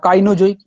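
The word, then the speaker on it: Cenozoic: ধরো সেনোজইকটা দেখাচ্ছি তাহলে সেনোজইক বা কাইনোজইক কাইনোজইক বা সেনোজইক যেটা বলতে পারো সেনোজইক এটা কি হলো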